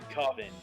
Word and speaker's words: coven: I think it's Coven, actually. That's how it's pronounced. You do feel kind of sorry for them. After all, no one ever seems to want to sit with them. Actually, I have heard it as Coven plenty of times.